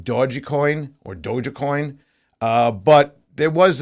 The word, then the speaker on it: Dogecoin: Yeah, hey Nick, I know it's pronounced Dogecoin, but there is some discussion in history that it was created as Doggy Coin as well.